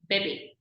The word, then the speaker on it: bébé: In bébé, we are just pronouncing a slight A sound, bébé.